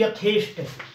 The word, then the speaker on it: यथेष्ट: एक होता है यथेष्ट, यथेष्ट होता है, वो ठे नहीं होता, इस बात को भी ध्यान रखेंगे।